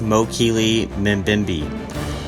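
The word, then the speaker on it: Mokele-mbembe: This was the Mokele Mbembe, pronounced Mokele Mbembe, looking like a smaller version of the brontosaur, now called apatosaurs.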